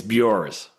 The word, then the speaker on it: Buors: It's Bu. Bu. Okay. I would have said it wrong. All right. Burs.